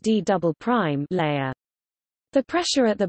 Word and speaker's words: D″: The lowest part of the mantle next to the core mantle boundary is known as the D, pronounced D double prime, layer.